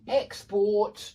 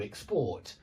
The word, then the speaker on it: export: The stress changes. It's on the first syllable in 2-syllable nouns, and it's on the second syllable in 2-syllable verbs when we use the same word for the noun and the verb.